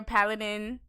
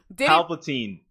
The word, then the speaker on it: Palpatine: degular Star Wars landscapes, and then we hear Paladin. Did I pronounce it wrong? We hear the laughter at the end. Paladin? Palpatine.